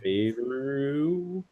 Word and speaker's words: Favreau: I am excited for Jon Favreau, I think is how you pronounce his last Favreau.